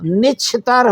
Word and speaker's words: نچھتر: ہاں تو اس کا جو تلفظ ہوگا وہ نچھتر ہوگا.